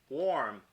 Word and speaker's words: warm: right this is pronounced worm and warm is pronounced warm with a oh now this is just kind